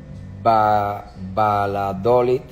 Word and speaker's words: Valladolid: murcia en valencia en tenerife en mallorca galicia valladolid y bilbao cómo se pronuncia avalado como se dice eso valladolid valladolid